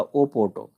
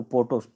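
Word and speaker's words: Porto: ओ पी ओ आरटीओ तो ऐसे तो उसको अगर पढ़ा जाए तो पढ़ा जाएगा ओ पोर्टो लेकिन ओ साइलेंट है इसलिए इसको पोर्टो पढ़ेंगे तो यह शहर है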